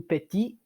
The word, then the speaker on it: petit: When it's masculine, we don't. It's just petit.